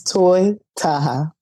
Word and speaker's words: Toy Taha: say all kinds of stuff but like it's toy Taha that's it well it seems very um self-explanatory